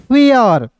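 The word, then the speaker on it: fair: फिर देखिए एफ का फ लिखिएगा और ए आई है तो ए आई का उच्चारण ए प्लस अ इसमें ए लगाइए। ए की मात्रा मतलब एक के लिए किसी शब्द के ऊपर लगाते हैं। ठीक है ना? ए और अ लिख दीजिए। आर का लिखेंगे दोस्तों र तो क्या हो जाएगा? एफ ए आई आर फेयर।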